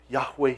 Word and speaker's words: Yahweh: Hebrew before who say, not even the Jews know how to pronounce it because they refuse to pronounce it. As close as we can get is Yahweh.